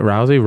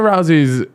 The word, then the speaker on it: Rousey: Is that how you say it? Rousey? Ronda Rousey. Ronda Rousey, who, by the way, was fucking cold in her time.